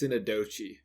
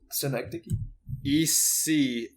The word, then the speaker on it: synecdoche: I'm pretty sure it's synecdoche. Yes. I don't think it's synadoche.